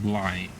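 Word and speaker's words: Blaidd: I still don't like how the name is pronounced I or spelled cuz it's pronounced with two D's but is pronounced like blight like B L A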